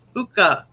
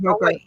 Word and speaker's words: hookah: No, it's AH. Hookah. I'm taking a different hooker. R. Why are you putting an R at the end of a word that you